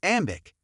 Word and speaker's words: AM8IC: AM8IC pronounced as Ambic consists of five Chinese members.